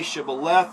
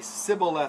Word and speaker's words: shibboleth: frame they say no then say shibboleth the person the if they're an afraid might they would say sybil instead because they couldn't pronounce it uh right according to